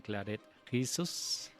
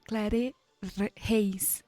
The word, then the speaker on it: Claret Reis: Seguimos en tablas y tableros con Clarette Jesus. Sí, se pronuncia así. Sí, hay una broma, ¿no? Porque mi nombre es en realidad Clare Heis.